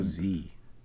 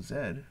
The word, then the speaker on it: Z: a brain eater or is it Go Z no we're in Canada it's go Zed I'm very particular about that we have to teach